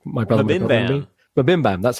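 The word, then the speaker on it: MBMBaM: I can never pronounce it right. Mbam, which is like my brother. Mabimbam. Mabimbam, that's how you say it.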